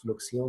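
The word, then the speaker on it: fluxion: So soul is actually soil, where as the word फ्लक्सियों, इसको pronounce फ्लक्सियों किया जाता है फ्रेंच में।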